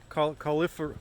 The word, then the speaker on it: cauliflory: It's called cauliflower. No, it sounds like cauliflower though. Cauliflory.